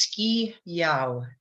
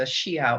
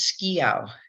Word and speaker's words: Schiau: your last name my last name is ski Yao it's Romanian so it doesn't if you're in Romania it's pronounced exactly as it's written but anywhere else in the world everybody wants to go with the Shia or something like that but it's ski out and then yeah yep